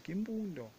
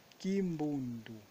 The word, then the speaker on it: Kimbundu: pronúncia da palavra Kimbundu, vimos muitas vezes Kimbundo, que terminando com a letra O, mas que na verdade é Kimbundu.